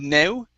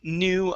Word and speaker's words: new: you okay it is the word new instead of no it's uh thinking up new ideas try that new